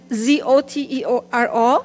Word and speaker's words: Zotero: How do you pronounce that? Z-O-T-E-R-O, Zotero, Evernote, Dropbox, and Google Drive.